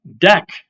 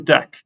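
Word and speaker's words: deque: fun for that the deck don't know how this is pronounced deck I guess the UE is silent right and a q without a u actually sounds like a k because English excuse me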